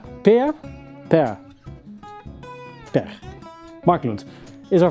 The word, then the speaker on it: Pär: But I can't pronounce his name. Pär. Pär?